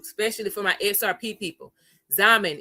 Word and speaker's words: Xaman: Zaman is spelled Xaman. Xaman.